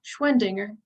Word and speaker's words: Schwendinger: last name so it's it's schwein like the bicycle company and dinger like the bell on the bike so schwendinger it's it's pretty easy